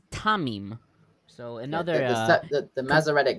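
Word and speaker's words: Thummim: th orim well uh generally it's tumim but here it's tamim so another uh the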